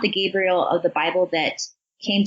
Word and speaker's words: Gabriel: I do believe that based off the 9 numerology, may be allowing himself to be guided by the angel Gabriel, or Jibriel would be another pronunciation of the name.